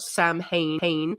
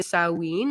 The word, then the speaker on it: Samhain: It's spelt Samhain. It's pronounced either Samhain or Samhain, depending on what sort of Celtic side you're from.